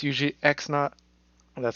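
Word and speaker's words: x₀: first point it's usually X naught well that's how you say and then why not the little zero is usually pronounced naught and then you got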